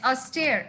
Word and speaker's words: austere: children what is it a u s t r yes how do you pronounce that yes a stair isn't it what is